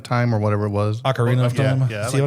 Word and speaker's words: Ocarina: But I like a Carnia of Time or whatever it was. Ocarina of Time?